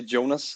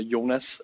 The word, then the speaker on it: Jonas: I should set uh you can say Jonas in uh in the English pronunciation uh Jonas here in Denmark uh it's it's a